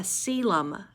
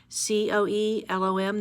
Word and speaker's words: coelom: them a body cavity and is called a coelom Co e LOM that's how you pronounce it it's not a vocabulary word but